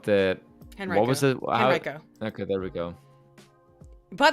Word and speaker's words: Henrico: Henrico. Okay, there we go. By the way, if anyone doesn't like that pronunciation, you're wrong.